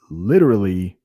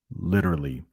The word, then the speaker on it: literally: But Americans will often say literally when it doesn't really happen. Literally. And that T, the way I say it, is actually like a D.